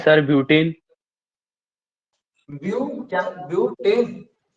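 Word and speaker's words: butene: सर ब्यूटेन। ब्यू क्या, ब्यूटेन? हाँ सर। ब्यूटेन नहीं, ब्यूटीन, ENE।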